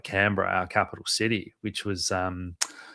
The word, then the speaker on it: Canberra: How do you spell it? Is it Cambria or Canberra? Canberra.